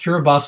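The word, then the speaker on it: Kiribati: rise the cura bus and that sounds pronounced cura bas islands have about a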